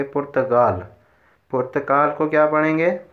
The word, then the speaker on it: پرتقال: ہی بتا چکا ہوں، یہ جو فارسی والے لوگ ہیں یہ کاف کو غین کے تلفظ کے ساتھ پڑھتے ہیں۔ یہ لکھا تو پرتقال ہے لیکن اس کو پڑھیں گے پرتگال۔ پرتقال کو کیا پڑھیں گے؟